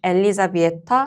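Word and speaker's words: Elžbieta: 보나스포르차처럼 능동적으로 판을 짜진 못했지만이 복잡한 정치의 균형을 위해서 희생된 하지만 현재까지도 기억되는 인물이 엘리자베 엘리자비에타 합스부르가이테이군요. 아, 그게 그게 리투아니아식 발음이에요. 맞아요.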